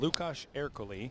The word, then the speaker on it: Lukáš Erkeli: Lukáš Erkeli, I believe, would be the, if we were going to go as authentic as possible, Lukáš Erkeli. Lukáš.